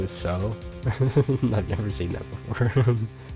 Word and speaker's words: Tso: like Polo a polo it's pronounced like the Japanese Su but an O so it's so I mean that makes